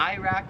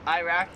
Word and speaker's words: Iraq: Iraq, we pronounce it Iraq.